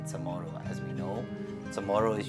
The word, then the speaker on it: CHamoru: spelling CHamoru. As we know, CHamoru is usually spelled or before it was traditionally spelled with a CHAMORRO, right?